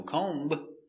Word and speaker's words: comb: Comb. No. Comb. The B is silent.